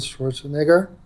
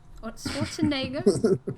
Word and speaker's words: Schwarzenegger: by She says Arnold Schwarzenegger. Schwarzenegger. Yeah, it's like Schwarzenegger. It's got an e. No, no, but you're very quiet at the first two syllables. First three syllables.